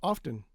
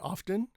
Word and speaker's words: often: I don't know why t is silent after s's sometimes. Again, not every time, but sometimes. And then there's other words like often. You can say often.